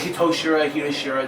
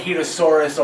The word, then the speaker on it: Hitoshura: Hitoshura, doesn't really matter. Whatever. Yeah. It's a weird fucking name, alright? Yeah, it's a fucking... Just as long as you don't call me Hitosaurus or like some people do, like...